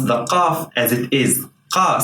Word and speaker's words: قاف: This letter is called qaf. Qaf. But in words, as I told you, it's pronounced like a glottal stop.